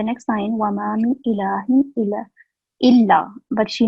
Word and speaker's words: إلا: L296, you said ila. So on lam, we have tashteed, right? We have the sign Yes. of shadda. So we have to stress illa.